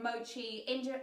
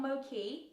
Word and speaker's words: mochi: it says the connect correct pronunciation of Mochi in Japanese is mochi Mochi so there you go Mochi guys not Moki mochi I got an